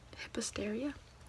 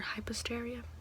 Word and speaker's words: Hypastraea: my name's Hypastraea, or Hypastraea, depends on what region you're from, on how you pronounce it and whatnot.